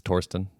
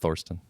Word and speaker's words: Thorsten: this whole time it's toron not Thorston I mean one one is the English pronunciation and the other is the German one I don't all right